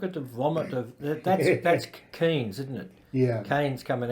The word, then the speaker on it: Keynes: Because in the hard right circles in which many Liberals move, the name of John Maynard Keynes rhymes with brains has become a swear word.